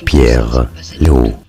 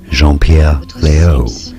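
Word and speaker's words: Jean-Pierre Léaud: for today we are looking at how to pronounce the name of this french actor in French they said as jeer Leo jeer Leo leier Leo in English jeanpierre Leo Jean Leo here are more videos on how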